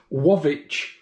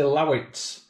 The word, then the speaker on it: Łowicz: is coming from this wavi mango syrup now we say lawitz uh in Britain but I think it's pronounced wavi but if any polish